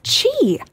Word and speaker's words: Qi: learned this one Qi I just say Qi I no it's Chi Chi yeah again this is a Chinese term so like we don't have this in English it's Chi who knew uh this